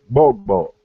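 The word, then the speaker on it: gbogbo: Is bogbo in all in the Yoruba language, and that GB sound is a simultaneous pronunciation. So you say bogbo, you have to say both of those phonemes at the exact same time.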